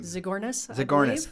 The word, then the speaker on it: Zagornis: How do you pronounce her last name? Zagornis. And she's in upstate New York.